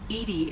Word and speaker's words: EDI: airlock is ajar why are you named Edie Edie is the phonetic pronunciation of 18i that is an acronym for